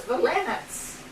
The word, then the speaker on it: Valinet: See, his name was Valenets. See, the Russian pronunciation.